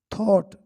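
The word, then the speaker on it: thought: सो ही थॉट, सो इसलिए, ही थॉट, ही थॉट यानी होता है सोचा, थॉट इसमें जी एच साइलेंट है, ही थॉट उसने सोचा,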